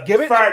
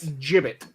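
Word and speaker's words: gibbet: just over prac this a Gibb or a jibbit it can be pronounced either way not giblet but jibbit the whatever I'm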